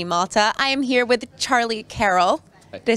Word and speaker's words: Charlie Carrel: coverage of ept malta i am here with charlie carroll did i say it right yeah okay good